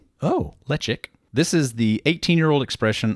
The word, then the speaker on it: Ledaig: Pronounced lechic. Oh, lechic.